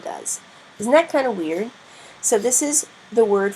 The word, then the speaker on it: via: though it sound does isn't that kind of weird so this is the word for Road WEA